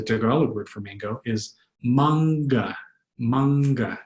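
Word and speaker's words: mangga: word for mango, is manga, manga. Notice that heavy G. If there was no heavy G, it would be manga, manga. But there is a second G, so it's manga, manga.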